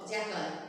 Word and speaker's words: jackal: If you pronounce, you say jackal. Most of them say jackal. It's not jackal. It's jackal. The pronunciation is jackal.